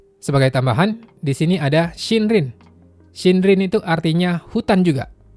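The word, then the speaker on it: 森林: Sebagai tambahan di sini ada shinrin. Shindrin itu artinya hutan juga. Jadi kalau dua kanji ini digabung bacanya shindrin artinya hutan.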